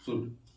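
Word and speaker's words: should: इसमें लिखा एस एच ओ य एल डी शड यानी कि एल यहां प क्या है साइलेंट है डी के अगर पहले एल आता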